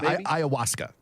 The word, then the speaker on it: ayahuasca: Well, and what he says is this use of, I can't even pronounce it, the plant. Yeah, the plant's got a weird name. Yeah, like ayahuasca. Yeah, ayahuasca.